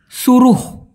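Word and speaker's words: suruh: মূলত উচ্চারণটা হবে এরকম ভাই, সুরুহ।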